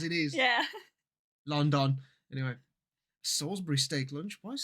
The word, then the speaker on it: Salisbury: going to read that Salisbury Salsbury Salsbury because we're British and we don't we don't pronounce things correctly it's Salsbury our language has clearly